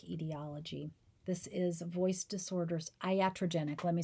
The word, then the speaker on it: iatrogenic: neurological disease and then the next etiology is iatrogenic etiology this is voice disorders iatrogenic let me spell that for you i-a-t-r-o-g-e-n-i-c iatrogenic this is voice